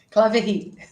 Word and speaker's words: Claverie: Também estou com a Clavery, é assim que pronuncia? Claverie. Clavery, que é gerente sênior